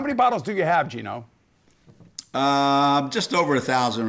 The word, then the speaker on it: Geno: Esiason we're back with Gino which rhymes with Vino oriemma who is passionate